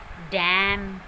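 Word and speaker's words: damn: जब भी वर्ड के लास्ट में एम एन इकट्ठे आते हैं, एम एन वर्ड के लास्ट में आते हैं तो एन वहाँ पर साइलेंट रहता है। For example ऑटम, column, डैम। This word is डैम। तो यहाँ पर वर्ड के लास्ट में एम एन है और यहाँ पर एन जो है वो साइलेंट है।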